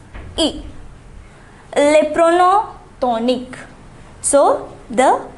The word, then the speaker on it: y: So to indicate a place, we use the pronoun y. It's pronounced e.